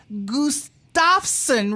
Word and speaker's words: Gustafson: It's Wy Gustafson. And I'm I'm hoping I pronounce that last name Gustafson. Right. You have to sneeze. You have to sneeze in the middle of it.